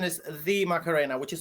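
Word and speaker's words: La Macarena: The official pronunciation is the Macarena, which is not good The.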